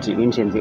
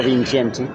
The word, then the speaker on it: Vincenti: Vincenti. It is actually Italian pronounced. Italian. Yeah. Vincenti, who is the director of Cape Twon Art Fair.